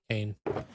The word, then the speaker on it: Kane: You're putting a bit of an A at the end. Kane? Kane, okay. Kane.